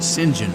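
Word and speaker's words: St. John: is a saint Gene it's spelled s-t-j-e-a-n Gene but they pronounce it Saint John in France and in England they pronounce it Sinjin so if my last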